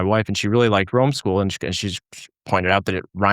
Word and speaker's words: Romeschool: and she really liked Romeschool, and she's pointed out that it rhymes with homeschool, which hadn't even occurred